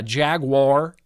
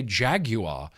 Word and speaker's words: Jaguar: it's Jaguar I heard a British person say jaguar and I went well that's probably correct he sounds very confidently correct it sounds like he knows that he's saying that correctly and we're all saying it wrong Jaguar Jaguar well we're